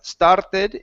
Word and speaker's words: started: Now at the beginning, you don't want to say started with an sound at the beginning. The word is started.